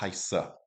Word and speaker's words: heiße: Ich heiße. And you always have to pronounce that E on the end of the letters.